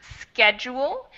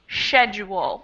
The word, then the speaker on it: schedule: In American English, it's pronounced schedule, and in British English, it can be pronounced schedule without that C sound in it.